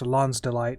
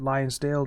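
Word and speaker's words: lonsdaleite: to do that and i am well aware that it is pronounced lon's delight but i pronounce it lionsdale due to a little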